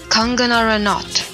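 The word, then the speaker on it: Kangana Ranaut: them after indian actress kangana ranat is that how you pronounce it how do you pronounce it kanganara yes that is it she brought sunny up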